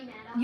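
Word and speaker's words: Madoff: I want to do Bernie Maid off next. Okay. Bernie Madd, but I pronounce it Bernie Moff.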